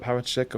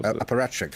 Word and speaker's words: apparatchik: Is it sort of a robot, a kind of a how do you say that word, apparatchik? Or apparatchik.